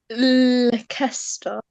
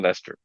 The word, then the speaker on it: Leicester: And Amra, you're in Leicester, right? Yeah. How would we have pronounced it if we really went with the English letters? Leicester. Something like Leicester. Like Leicester. Okay, so Leicester.